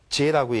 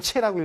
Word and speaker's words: 제: 불교에서는 진리를 제라고 얘기합니다. 제. 이럴 땐 체라고 읽으시면 안 돼요. 진리 땐 제라고 합니다.